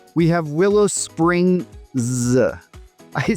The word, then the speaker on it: Willow Springs: Then at number 4, we have Willow Springs. I say that because you'll hear it pronounced both with and without that final S, and different people have different explanations for why.